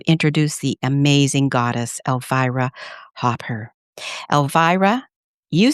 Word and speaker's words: Hopper: And And is your last name Hopper or Hooper? It's Hopper. And my first name is pronounced Alvivera.